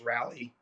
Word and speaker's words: Raleigh: or right all right well i know how to say it it's rally rally yeah i think i've